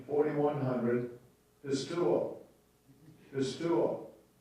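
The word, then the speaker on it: πιστεύω: Strong's G, 4100, pistuo. Pistuo. All right. So that you make sure you pronounce it right on Sunday morning.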